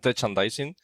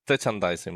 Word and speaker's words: Techandising: So I called it tandising and no one is able to to pronounce it as I had in my mind when I created it. But yeah it's like tandising more or less.